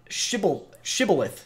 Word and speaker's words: shibboleth: And trying to remember the word shibboleth, sorry, which I continue to mispronounce by adding an N.